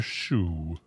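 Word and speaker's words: Shue: pronounce Hester Zona Hester Shu like Elizabeth Shu the actress spelled like it and search no matches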